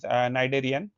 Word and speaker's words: Cnidaria: तो ये हम पढ़ रहे हैं आज फाइलम नाइडेरियन। जो इसमें जो सी है वो साइलेंट है एंड ये एनिमल किंगडम